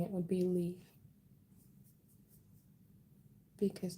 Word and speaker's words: Leah: But the traditional way of saying my name is Lee. So you guys can call me Lee or Leah. I like Lee. Lee is nice.